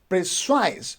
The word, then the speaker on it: precise: word that is precise you see we have two syllable prey and size precise so we don't say precise because if you say praise size so you are stressing the first syllable you will say precise precise on the second